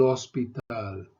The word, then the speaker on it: hospital: El hospital, el hospital. Remember the H is silent in Spanish always.